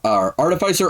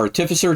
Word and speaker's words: artificer: uh I am a class called Art artificer or artificer depending on how you want to pronounce it uh basically I make